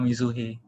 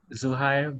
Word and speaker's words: Zuhair: is the correct pronunciation most people call mizuhi but how does your parents call you uh zuhair but i'm okay with